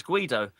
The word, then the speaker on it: Guido: Speedo is the same as Guido.